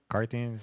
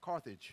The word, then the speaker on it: Carthage: she's from the uh uh car how do you say it carthins yeah what is it um where uh Carthage Carthage there you go she's from Carthage and